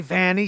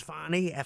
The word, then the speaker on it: Fani: I say Fanny, she says Fani, one N, two N's, and it's like, I think it's because Fanny is like vaguely dirty, so he can like, sort of.